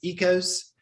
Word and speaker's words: Oikos: realize that well that um the brand um oikos is actually pronounced ecos and it's not really true greek yogurt neither